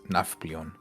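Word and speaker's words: Nafplio: So, it's Naflon.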